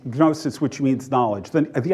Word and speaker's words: gnosis: Greek word gnosis and in Greek the G is pronounced um gnosis which means knowledge the